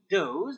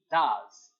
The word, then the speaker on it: does: So as I said again, we're not going to pronounce it he does, but we are going to pronounce it he does.